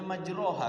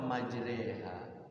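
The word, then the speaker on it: مجراها: Ayat imalah kan tulisannya majroha kan. Iya. Tapi bacanya kenapa majreha? Khusus Imam Asim riwayat hafaz thariq imam Syatibiyah ini di Quran itu imalah itu cuman ada satu. yaitu di surah Hud itu ya.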